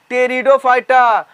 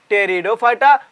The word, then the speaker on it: टेरिडोफाइटा: क्या है वो, टेरिडोफाइटा। पी साइलेंट होता है, बार बार बोल रहा हूं, हमारा पी साइलेंट होता है। हम लोग पढ़ते हैं टेरिडोफाइटा, पर लिखते हैं कुछ इस तरीके से, जो आपको समझ के